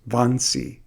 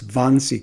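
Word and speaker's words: Wannsee: Vansi, spelled with a double W, but it's Vonyi Conference.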